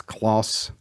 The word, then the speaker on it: Kloss: But it's spelled K-L-O-S. I believe it's Kloss.